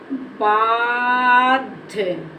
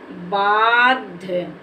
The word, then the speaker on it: बाध्य: हमारा हो गया बाध इसको बाध अगर पढ़ दे तो हमारा ये गलत हो जाएगा क्योंकि आधा धा है और इसमें आ की साउंड का उच्चारण भी नहीं है और इसको जल्दी से पढ़ देना है इसके बोलने में टाइम